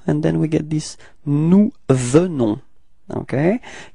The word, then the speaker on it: nous venons: First person of the plural, it's nous, and then we get this nous venons, okay? Keep in mind that E is pronounced like E, so it's the, venons. Final S is not pronounced, okay?